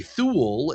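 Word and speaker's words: thoul: It was just thu instead. That's why it's spelled t h o u l. And a thool is a they decided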